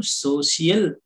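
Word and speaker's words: social: ಈಗ ಇಲ್ಲಿ ಉಚ್ಚಾರಣೆ ನೋಡಿ ಸಿ ಆದ್ಮೇಲೆ ಏನ್ ಬಂದಿದೆ ಐ ಎ ಬಂದಿದೆ ಆದ್ರಿಂದ ಇದನ್ನ ನಾವು ಏನಂತಂದು ಓದ್ಬೇಕು ಸೋಷಿಯಲ್ ಅಂದ್ರೆ ಇಲ್ಲಿ ಶ ಉಚ್ಚಾರಣೆ ಕೊಡ್ತಾ ಇದೆ ವೆಲ್ ನೆಕ್ಸ್ಟ್ ನೋಡಿ ಒ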